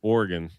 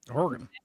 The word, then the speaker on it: Oregon: People making fun of Joe for the way she pronounced Oregon. Oregon. Hey, You said Oregon. Oregon. Oregon. Oregon. Yeah, that's Like oregano.